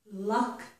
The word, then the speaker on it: luck: word but okay so luck love la la okay so it's the same vowel sound is here luck love luck love and I said the